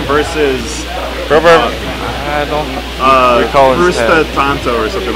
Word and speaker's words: Frsutanto: Frsutanto is actually how it's pronounced.